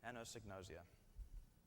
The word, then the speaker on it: anosognosia: Anosognosia.